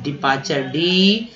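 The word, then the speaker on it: departure: विदाई, डिपार्चर, डिपार्चर, TURE को चर बोलते हैं, विदेश मंत्रालय।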